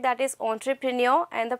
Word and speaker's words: entrepreneur: to use it and the pronunciation over here is entrepreneur not enterpreneur it looks very shabby